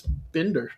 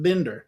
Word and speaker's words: Binder: On this side of Colorado, we pronounce it bender.